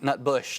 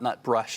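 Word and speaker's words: Nutbush: nut brush around I excuse me nut Bush not nut brush I've been mispronouncing that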